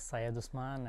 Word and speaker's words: Syed Usman: my name is Saya dusman and most people call me Syed because it's easy for them to pronounce my first name and I'm born from